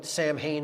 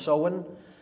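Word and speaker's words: Samhain: so when pronounced so when it looks like Sam Hayne in English but it's pronounced sohen uh in Gaelic and that is Halloween or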